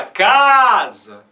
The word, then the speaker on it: casa: Então, o C nós pronunciamos com som de K, né, como K, som de K. O S tem som de Z, por quê? Porque vem entre duas vogais. Sempre que a letra S aparecer entre duas vogais, ela é pronunciada como Z. E esse último Azinho aqui está de cabeça para baixo, porque ele é um Azinho fraco. A gente fala casa. O último A é fraco.